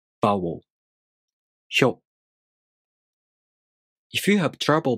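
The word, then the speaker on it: ひよう: This is pronounced hyo.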